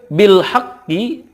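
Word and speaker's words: بالحق: Lanjut, bil haqqi, ketika waqaf dibacanya bil haqq. Karena qaf ini ada qalqalahnya, ditekan kemudian dipantulkan. Bil haqq.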